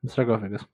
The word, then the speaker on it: sarcophagus: Yeah, sarcophagus.